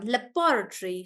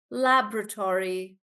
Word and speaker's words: laboratory: B laboratory laboratory laboratory that's the British one laboratory so the stress is on B and now let's let's listen to the American one laboratory laboratory so Tor like that laboratory Laboratory so for me the stress sounds like it's on to Tori like that so Su is feeling